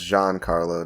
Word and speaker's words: Giancarlo: I want to be that guy, but I think it's pronounced Giancarlo, not whatever you said.